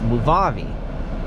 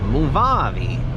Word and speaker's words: Movavi: all that stuff and how you say it it's this movavi so it was like okay that's a good way to say it movavi my friend Bobby so yes and yeah